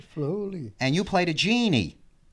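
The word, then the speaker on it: Flahooley: Flay Hooley, am I pronouncing that correctly? That's right, Flay Hooley.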